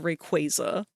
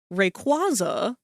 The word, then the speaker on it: Rayquaza: I will die on the stand of Rayquaza is pronounced Rayquaza. and blazakin is pronounced blazakin. I will not give up this fight. My best friend growing up called them Rayquaza and Blazakin and I hated both of them.